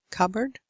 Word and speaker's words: cupboard: learners have problems with cupboard you don't pronounce the P cupboard the lovely butterfly that's